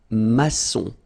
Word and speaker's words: maçon: Here you can see that we've got this little cédille beneath the C, okay? And it just means that you will pronounce this C as S, okay? So that's the reason why. It's un maçon.